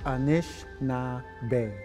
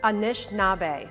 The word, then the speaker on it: Anishinaabe: Yeah, and how you pronounce that word is Anishinaabe. Anishinaabe.